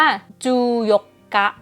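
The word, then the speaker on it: 十四日: วัน ที่ 14 ก่อน อ่าน ว่า จูย กะ จูย กะ ก็ คือ 10 คือ จู เนาะ แล้ว ก็ หยก กะ คือ ไอ้ เบอร์ วัน ที่ 4 เมื่อ ตะกี้ จู หยก กะ ก็ คือ วัน ที่ 14 ส่วน 17 มัน ค่อน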